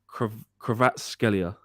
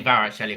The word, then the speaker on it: Kvaratskhelia: It's Kvaratskhelia. Oh, that's it. Yeah. I say Kvaratskhelia because I can't do the kv at the start.